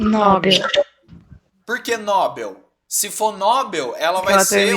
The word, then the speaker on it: Nobel: seria assim com assim se fosse Nobel ela seria paroxítona terminada em L do rosto não aí precisa até assento não precisa como não tem essa palavra não tem acento eu não vou pronunciar Nobel eu vou pronunciar Nobel